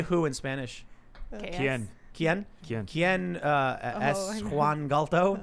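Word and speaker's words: quién: Quien?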